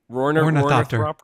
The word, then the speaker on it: ornithopter: I think you're putting another R in there that does not there. Ornithopter. Thropter. Yeah, they're putting. I think you were saying thropter.